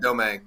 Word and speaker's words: Domingue: your last name yeah domay yeah it's a do yeah Southern French last name I mean I if